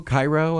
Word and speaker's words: Cairo: Cairo is how they say it.